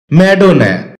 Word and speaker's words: Madonna: ম্যাডোনা। এটাকে আমরা ম্যাডোনা বলে থাকি, যার সঠিক উচ্চারণ হচ্ছে ম্যাডোনা।